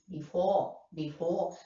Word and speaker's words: before: So, the second syllable, before, the second syllable is stressed.